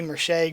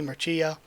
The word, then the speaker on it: Mercia: mercia or again i another word i always pronounce wrong i always say merchant grace merchant leslie but it should be mercia and line has spelled